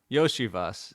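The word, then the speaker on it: Iosivas: Was it Ishavas? Ishavos? Yoshivas. Yep. I always forget how to say it. Like Yoshi. It's tough. He's Yoshi.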